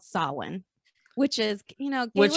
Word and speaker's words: Samhain: like samhain s-a-m-h-a-i-n but when i google the pronunciation it's actually called sawin which is you know which is very irish yes yes yes so sawin okay which is celebrated on the night of